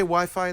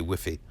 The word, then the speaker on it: Wi-Fi: I just found out we say Wi-Fi do you say Wi-Fi in the UK and they say whiffy they say whiffy yes